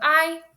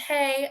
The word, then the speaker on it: hay: So I means there is or there are. So when you see that word, it's not pronounced hey, it's pronounced I.